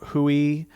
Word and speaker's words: Rui: Okay, so this is from Hui in Hui. Hui. It's spelled R-U-I. Isn't that Hoya? Yes. Hui. I believe was it's thinking of Portuguese.